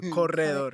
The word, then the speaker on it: Corredor: It's like the hallway, but it's like without an I, with the E. So corredor, yeah. Oh, Corredor. so That's you how need you the say accent. it. That's how you say it. Corredor. Corredor. Yeah. I can't roll my Hey. R's for my life, but okay. Yeah. Corredor. Corridor. Corridor. Corredor. Corridor. Yeah. Corridor is the American way, right?